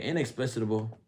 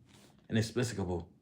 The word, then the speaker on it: inexplicable: Inexplicitable. I'mma look up that word. Make sure I pronounce it. I pronounce it right. Inexplicable.